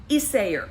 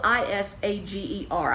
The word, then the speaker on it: Isager: wrong, but it's spelled I-S-A-G-E-R. I think I was saying Isager, and I know the first part was Isay, and I want to say it's Isayer, but it might have been Isager, I don't know.